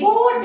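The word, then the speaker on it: bought: बी ओ यू जी एच टी, बोट पढ़ते हैं, बाय बोट, है ना?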